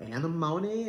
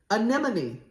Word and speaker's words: anemone: She says um uh I don't I was like is the color anamony or what is it? She says anemone. That's the color.